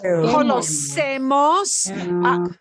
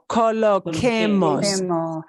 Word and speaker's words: coloquemos: Remember, we want to keep the k sound, colocar. This is colocemos. Listen to how this sounds, guys. Colocemos, coloquemos. The original verb is colocar. We want to keep all the sounds that are original in colocar With a Q. Coloquemos. with the Q.